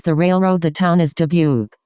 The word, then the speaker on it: Dubuque: The town is Debuke. Pronounced roughly W K.